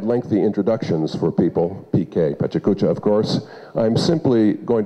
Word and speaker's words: PechaKucha: Some people pronounce it Pecha Kucha, others PechaKucha.